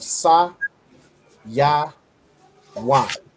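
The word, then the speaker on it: Sayawan: So the way you put it together, so Sa, Ya, Wan, you'd pronounce it as Saya Wan.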